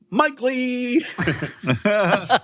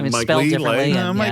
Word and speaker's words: Mike Leigh: to Ang Lee to Mike Leigh. Or Mike Leigh. Uh Mike Leigh I'm like Mike Leigh, but yeah, it's spelled differently, but Okay, so he's a classic uh goofster here.